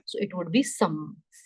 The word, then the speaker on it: sommes: Why this is some? S is for making it plural, no sound. E is the last letter, no sound. Okay, when you add S something to make it plural, that word, that S is not pronounced.